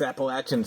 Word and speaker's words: Appalachian: interesting yeah yeah up here it's Appalachian Appalachian I mean most of my life I grew up saying Appalachian I was you know some some people from from the mountains sort of corrected me no it's it's Appalachin so I kind of